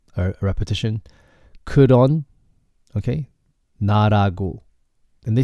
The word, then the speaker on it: 나라고: 나라고. But then in Seoul, a lot of people say 나라구.